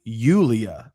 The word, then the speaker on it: Julia: It's um it's it's in Swedish the name the name Julia is pronounced approximately Ulia.